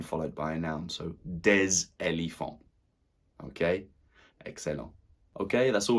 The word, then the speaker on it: des: And plural, we would say des. Des tables. We pronounce the S, that's right, when followed by a noun. So, des éléphants.